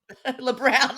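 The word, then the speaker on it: Lebrão: LeBrown, like it's LeBrown.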